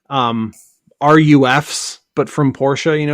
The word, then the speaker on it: Ruf: to make like um rufs but from Porsche you know what I mean yeah is it Ruf or is it roof I think roof is the actual PR actually pronounced yeah all all out